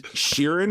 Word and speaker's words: Sheeran: though that it's Ed Sheen oh is Sheeran is is that how you pronounce it yeah with the r that's in there there's a lot missing